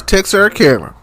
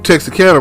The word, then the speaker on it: Texarkana: I'm going as far as Texarkana. And I have to say it that way because that's how they say it in the movies. Everybody knows that's not how you say it when you're from here.